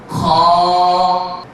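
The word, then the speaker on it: خ: মানে উপরের অংশ থেকে এই হরফটি উচ্চারণ করা হবে আমি উচ্চারণ করছি আপনারা সবাই লক্ষ্য করুন এবং আওয়াজগত উচ্চারণগত এটা মোটা হবে খে আমি আপনাদেরকে একটি বিষয়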